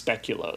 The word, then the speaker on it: speculoos: According to Google, it's speculoos.